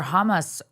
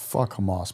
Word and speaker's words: Hamas: How do you say it? Hammus. Hamas, bro. Oh, Hamas. Sorry.